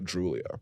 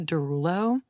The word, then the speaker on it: Droulia: Yeah, I love how you pronounced my last name right. Oh, that's right? Yeah, nobody ever pronounces it correctly. I had an ex that always said Derulo. That's like Jason Derulo.